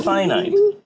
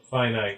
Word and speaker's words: finite: like after this yeah the opposite of infinite is finite i'm sure that that's the pronunciation i am fairly sure that that is the pronunciation yes yeah i gotta go with this one finite yeah there's a there's